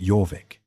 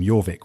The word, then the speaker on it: Jorvik: The Vikings called it Jorvik.